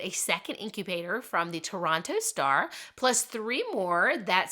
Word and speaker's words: Toronto: to the quintuplets and Dr Alan Brown from Toronto's hospital for six children that's how you say